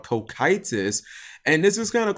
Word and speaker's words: Cocytus: I had to look up this guy's name on how to pronounce it. It's called Kokitis.